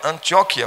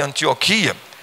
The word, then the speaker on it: Antióquia: o anc ok ok a pronúncia certa da palavra antióquia mas nós preferimos chamar de antioquia eu lembro também na